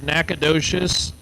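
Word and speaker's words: Nacogdoches: I tell you what if you saw the spelling of nacad docious there is absolutely positively no way you would pronounce it that way where is nacadas is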